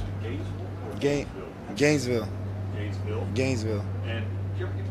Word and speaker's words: Gainesville: Hey, Deshaun, your hometown, you pronounce it Gainesville or Gainesville? Gainesville.